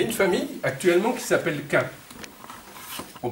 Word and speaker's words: Quint: Il y a une famille actuellement qui s'appelle Quint. On prononce comme ça.